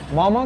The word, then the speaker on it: मोमो: मोमो क्या है कि ये एक नेवारी डेलिकेसी है, ठीक है? एंड मोमो it's pronounce मोमो, नॉट मोमो।